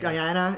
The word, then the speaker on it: Guyana: Like, I'm not going to pronounce it right. Guyana. I think it's Guyana. Guyana.